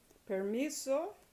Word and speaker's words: permiso: Permiso, next to the last syllable, mi.